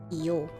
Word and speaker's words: iyo: Iyo. Maybe I should I put in like pronunciations? Iyo. Not yo.